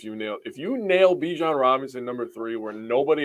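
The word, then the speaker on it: Bijan: number three no yeah you're ahead of me Beyond Bijon sorry no Adam Scheffler is saying it right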